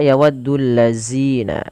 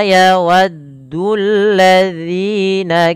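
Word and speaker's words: يَوَدُّ الَّذِينَ: Hati-hati di dalam melafalkan huruf dalal. Jangan dibaca dengan huruf zai ya teman-teman. Jangan dibaca yawaddulladzina tapi dia dza ujung lidah kita menempel dengan gigi saring atasnya.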